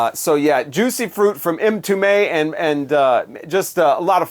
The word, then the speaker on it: Mtume: So yeah, Mtume, and by the way, that is how you say that. It's not Mtume or something like. It's Mtume, and that's the last name of James Mtume, one of the lead guys here.